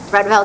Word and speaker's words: Vredeveld: name, Yo and Yo, I always trip over how to pronounce Vredeveld Hefner? Rudveld Hefner, yes, that sounds correct, and Gabreth and Company.